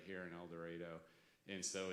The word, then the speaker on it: El Dorado: back saying to myself, it's El Dorado, El Dorado, El Dorado, because Governor Sanders said she would leave me here if I said it wrong.